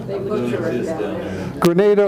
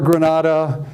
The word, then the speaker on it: Granada: Grenada yeah well well I think of a grenade or something you throw but I'm using the Spanish pronunciation Grenada or Granada tomato tomato at at that time